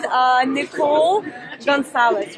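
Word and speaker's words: Nikole Goncalves: Okay, so before, as I mentioned, Nikole Goncales, right? Yes, you said it right. Nikole Goncales, nutrition plan, right?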